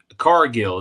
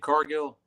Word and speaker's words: Cargill: current wrestling news, right, we have, um, Jade Carill, is that how you say her name? Jade Cargill.